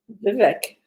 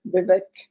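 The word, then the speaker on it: Vivek: I pronounce it correctly Vivic like cake VI ramasami I think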